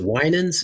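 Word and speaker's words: Winans: a lot about are the wi is it winens is that pronounced correctly wi correct yep and Winters those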